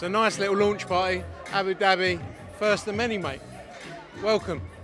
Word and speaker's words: Abu Dhabi: nice little launch by Abu Dhabi first the mini mate welcome Abu Dhabi or Abby Darby Abby Darby sorry my pronunciation was all wrong there wasn't it Essex Brighton now